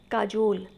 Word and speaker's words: cajole: Third spelling है आपकी काजोल, CAJOLE।